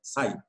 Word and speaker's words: psi: the Greek letter psi, it is pronounced as psi.